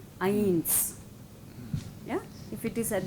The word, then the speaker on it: eins: But if it is at the end of a word, then it is soft. Eins.